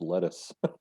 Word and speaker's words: lettuce: no not that one it's not leduc it's lettuce lettuce yeah and there